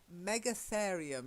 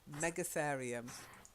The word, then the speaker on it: Megatherium: I really don't know what this one is, but Megatherium is how I'd pronounce it. Mega, as in big, and then a therium, so it's a big therium, whatever one of those is. Megatherium.